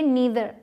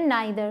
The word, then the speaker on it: neither: ठीक है, अब देखिए नीदर, NEITHER, इसकी भी दो प्रोनाउंसिएशंस हैं, नीदर या फिर नाइदर, दोनों ही सही हैं।